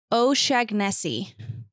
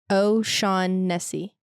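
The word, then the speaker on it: O'Shaughnessy: O'Shaghnessy.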